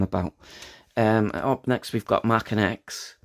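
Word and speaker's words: Maken X: Up next we've got Mackin X. A lot of people pronounce it as Makin X. It's Mackin X.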